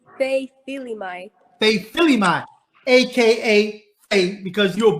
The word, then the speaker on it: Feifilimai: How you say it, Fei? it's Feifilimai.